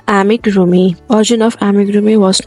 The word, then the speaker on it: amigurumi: The pronunciation of amigurumi will be amigurumi.